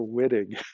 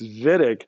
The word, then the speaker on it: Wittig: and pronounce it correctly he's german so w is a v sound don't call it the wittig reaction we'll know right away that you're not an organic chemist if we hear whitting okay it's vitic in